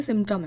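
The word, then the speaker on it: symptom: सही है राइट सिमम हम इसको देखिए बोलते सिमम है लेकिन इसमें पी भी होता है जो कि साइलेंट होता है इसीलिए कई बार हमें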